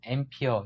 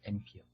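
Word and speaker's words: ampere: 암페어를 영어로 읽을 때는 앰피어 이렇게 발음을 합니다. 앰피어. 여러분들 유튜브를 본다든가 할 때는 몇 앰피어, 0.4 암페어 이렇게 하지 않고 0.4 앰피어, 0.4 앰피어.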